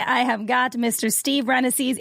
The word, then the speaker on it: Rannazzisi: Steve Rannazzisi. Am I saying it right, Rannazzisi? It's pronounced Smith. No, you got it right. Yeah, Rannazzisi.